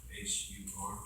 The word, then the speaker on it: Hur: name, first name was spelled U-R-I, son of H-U-R.